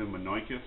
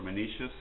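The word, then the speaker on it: Menoeceus: And we're reading the letter to Menoicus, or Menicius, however you want to pronounce it, is fine.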